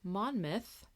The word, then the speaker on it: Monmouth: It's pronounced Monmouth, which I think I probably was saying it wrong. I think I said Monmouth.